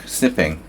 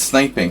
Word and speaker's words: sniping: sniping I can't talk snipping that's different that's snipping there's one P it's sniping I can't say it but I can spell it stream snipping is